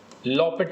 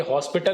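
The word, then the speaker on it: L'Hôpital: है ओके अ लिमिट्स लपट रूल अच्छा ये हॉस्पिटल नहीं होता ठीक है इसमें हम एच और पी को साइलेंट रखते हैं तो लपट रूल कहते हैं हम लोग इसको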